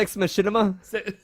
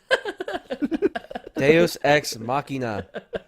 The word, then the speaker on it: deus ex machina: Ex Machinima. Deus Ex Machina. Yes. You said Deus Ex Machinima. the first And I said it wrong.